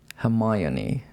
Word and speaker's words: Hermione: yes yes yeah and we Japanese people said hamoni okay I think that's pretty close hamayon is the correct version but that's actually Katakana